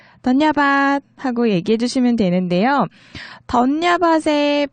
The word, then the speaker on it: धन्यवाद: 네팔어로 던야밭입니다. 던야밭 하고 얘기해 주시면 되는데요. 던야밭의 밭, 비읍 자음 있잖아요. 이 자음이 이응처럼 들리는 그런 발음인데 사실 제 발음으로 따라하는 것보다는 현지인의 음성을 듣고 따라하는 게 더 좋겠죠.